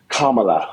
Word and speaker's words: Kamala: Now, Jaden, I've heard Kamala, say her name correctly. Kamala, okay? Kamala, not with that emphasis, just say Kamala.